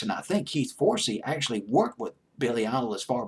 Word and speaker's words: Forsey: And I might be mispronouncing his last name. It's Forsey.